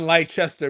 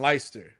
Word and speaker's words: Leicester: Not in Lychester but in Lyster.